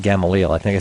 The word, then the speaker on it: Gamaliel: Gamaliel, right, of the clan of the tribe of Manasseh, right? The chief of Manasseh being Gamaliel, not Gamaliel.